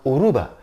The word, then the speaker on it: Yoruba: that it was Yoruba because the why is silent maybe because for a long time they or they speak Yoruba with a Spanish accent so it's uruba Aruba and it's not